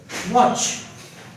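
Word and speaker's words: watch: इस तरह के कई वर्ड, जैसे कि एक वर्ड आपने ले लिया वॉच। किसी मूवी करती चीज को हम देखते हैं, वॉच करते हैं, वॉचिंग video, वॉचिंग movie video, वॉच। T silent हो गया।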